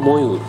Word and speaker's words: ময়ূর: যেমন ময়ূর, আমরা লিখে থাকি কিন্তু উচ্চারণ করতে হবে ময়ূর, কারণ ময়ের পর দীর্ঘউ রয়েছে।